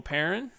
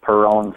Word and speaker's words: Parin: Uh our buddy Joe Parin 3534 35th. It's pronounced parin guy olan parin. Don't know where you get this perone stuff from.